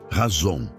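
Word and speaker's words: חזון: Para entendermos a natureza desta visão, podemos olhar para a palavra hebraica chazon. Se pronuncia razon.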